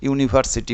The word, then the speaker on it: university: The pronunciation is like consonant, university, y like, that's why it will be A.